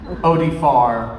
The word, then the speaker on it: Oded Fehr: end of the couch tried to make me mispronounce his name. It didn't work. Didn't work okay. Yes. Nice try. Yeah. Nice try. Oded Fehr.